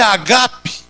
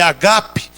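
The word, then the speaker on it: ἀγάπη: festas de amor a palavra grega aí é agap não é Ágape a pronúncia é agape que significa Realmente uma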